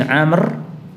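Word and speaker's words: عمرو: AB bin Amir bin Amr perhatikan Ikhwan Kalau yang ini dibaca Amir kalau yang pakai wau Umar pakai wau itu bacanya amrun amrun atau Amr Kalau yang ini Amir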